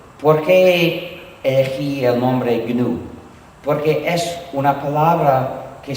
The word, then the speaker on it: GNU: Pero sí todavía es GNU y se debe pronunciar GNU, o en castellano se puede pronunciar GNU como si comenzara por ñ, pero la pronunciación errónea que no debe usarse nunca es Linux.